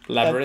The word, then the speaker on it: Labyrinth: about the Labyrinth cop I don't know how you say it dude oh Labyrinth Labyrinth that's correct is that right are you